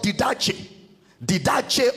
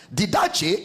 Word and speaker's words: didache: The word doctrine there is the Greek word didache of Christ. Didache is spelled as D-I-D-A-C-H-E, didache.